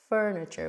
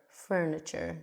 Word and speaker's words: furniture: Furniture. We have the uh uh sort of like a neutral sound. And so we can pronounce the fur. Furniture. Just like fur, you know, furniture.